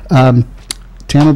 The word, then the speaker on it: Tama: as our guest today you know your name rhymes with drama which I grew up pronouncing the drama but that's fine so